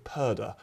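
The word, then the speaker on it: purdah: in a period called purda at the moment rhymes with murder because that's what it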